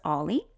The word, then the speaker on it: o11y: The 11 here looks like two L's, so sometimes it's pronounced as Ollie.